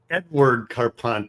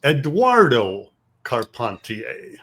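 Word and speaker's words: Eduardo Carpentier: of his first name it's not Edward carpan it's Eduardo koner Eduardo koner and he was was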